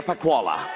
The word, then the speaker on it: Pacquola: actor award goes to you can pronounce it Celia PAH koala this is Celia for